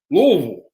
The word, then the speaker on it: Louisville: no louisville louiseville so everybody in the united states pronounces it about 17 different ways i've seen it on t-shirts coffee cups you know all the different spellings here in kentucky we say louisville louisville louisville l-u-l-v-u-l and you got to